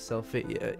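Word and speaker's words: Selphie: Her name is Selfie.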